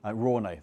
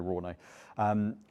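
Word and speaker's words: Rauné: Ruane, that's the way to pronounce them, sorry, Ruane.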